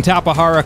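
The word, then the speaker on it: Tapejara: By the way, yes, I am pronouncing Tapahara correctly.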